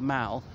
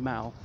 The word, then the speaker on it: Mall: horse-drawn carriage at the mall which is parallel to this just the other side of these trees the little pond but beyond that pond is the mao not mall in british pronunciation mao because protest not permitted